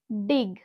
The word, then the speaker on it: dig: DIG, ডিগ, DIG, ডিগ। এখানে আমরা জি কে একবার জ হিসাবে উচ্চারণ করলাম, আবার আমরা এখানে গ হিসাবে উচ্চারণ করেছি।